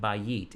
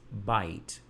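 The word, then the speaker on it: beit: That it is not bayit, it's bite. But the letter and the construct form is bait. Same letters, bait, yud, tav. But underneath the letter bait is two dots for sereh, a long E vowel, and then followed by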